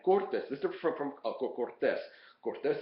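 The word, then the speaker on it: Cortés: this is from Cortez Cortez of course is a proper name so the accent is on the is on the second syllable but Cortes without the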